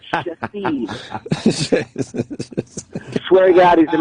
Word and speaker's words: Shithead: I have a patient in my practice whose name is pronounced Shahid, spelled S-H-I-T-H-E-A-D. His name's spelled shithead, but they pronounce it what? They pronounce it Shahid.